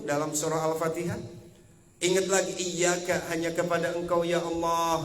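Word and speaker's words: إِيَّاكَ: Artinya harus double hurufnya 2 harokat iyyaka. Lalu kalau ada huruf wawu dan huruf ya yang di atasnya ada tanda tasydid, maka bacanya itu harus dihentak Bu.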